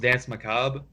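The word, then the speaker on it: Dansé Macabre: It's pronounced Dance Macabre, and yes, you got that correct.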